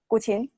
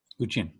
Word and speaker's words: guqin: Yeah, how do you pronounce it? Guqin. Guqin.